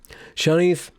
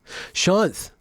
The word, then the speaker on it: Shanth: it on the channel ben pronounced shanth shanth i have to talk